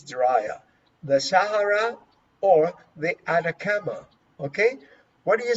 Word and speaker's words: Atacama: desert dried the Sahara the Sahara or the Atacama I really don't know let me let me